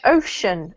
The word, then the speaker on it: ocean: This one here, we say in English, ocean.